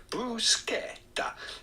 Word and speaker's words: bruschetta: dish in Italian with the typical Italian pronunciation. Typical. Bruschetta.